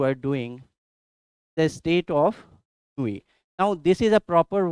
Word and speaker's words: ennui: It is pronounced as ennui.